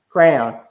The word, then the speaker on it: crayon: can't move on from crowns no let's all pronounce the Crown's random to crayon for me to crayon that's what you're saying crayon I'm saying crown it sounds like you're seeing crown class well yeah exactly Mik